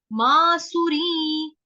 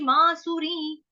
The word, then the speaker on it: मासुरीं: मासुरी, इसके ऊपर जो अनुस्वार है उसका उच्चारण नी। राक्षसी मासुरी।